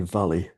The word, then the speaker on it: Vali: Um, some call me voluuptuous, but it's actually Voli. Vali.